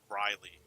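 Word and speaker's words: Grille: Actually, it's not pronounced grill. It's pronounced Griley.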